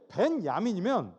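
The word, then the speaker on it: בנימין: 그는 곧 베냐민 사람이라. 여러분, 베냐민이란 지파에게 동네 얘기, 동네. 베냐민이란 동네가 있잖아요. 그런데 이게 얼마나 뜻깊은 아가페 말씀이냐면 저들의 말로 정확하게 읽으면 벤야민이에요.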